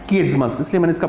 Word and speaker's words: chiasmus: आगे देखिएगा, किएज्मस, बहुत सारे लोग तो इसको सही तरीके से उच्चारण ही नहीं कर पाते हैं, इसका प्रोनाउंसिएशन ही ठीक से नहीं कर पाते हैं। तो इसका है किएज्मस, इसलिए मैंने इसका प्रोनाउंसिएशन भी यहाँ लिख दिया है।